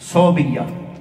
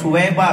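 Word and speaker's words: ثویبہ: پھر آقا علیہ السلام نے دودھ مبارک پیا جو ابو لہب کی لونڈی تھی صوبیہ، اور اس کا تلفظ 2 اعتبار سے پڑھا گیا ہے، صوبیہ بھی ہے اور سویبہ بھی ہے.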